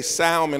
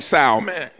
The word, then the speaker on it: Salmon: think you actually say salmon I don't think it's like the fish with the L is silent I know the L is silent but I think we call him Salman Jenny line through Joseph